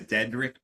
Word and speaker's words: Deadrick: Yeah, my name is Deadrick. Like Rick is dead.